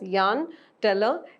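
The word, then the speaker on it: Jahn–Teller: yarn teller effect though there is uh j a h n in the name it's pronounced as Yan teller effect now which of the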